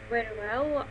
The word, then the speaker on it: very well: So the first word you should kind of bite a little bit the lower lip, like very, very, and then when you pronounce well, you have to protrude your lips, and these are very different words, as you can see.